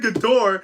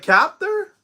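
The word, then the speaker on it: Kaptur: I answered the phone and I got her name wrong. I said Couture.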